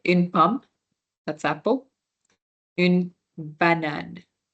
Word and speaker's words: banane: So the last E is not pronounced. This one might be easy for us to remember because it's just like banana, but just banan because the A is an E at the end. So banan, right? That's how it's pronounced.